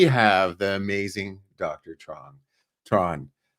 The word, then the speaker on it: Truong: the amazing Dr Tron Tron the g is silent and my joke is